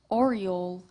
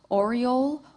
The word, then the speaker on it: oriole: Contestant, your word is oriole. This word has two correct pronunciations, as well as it is a homophone. Oriole, oriole.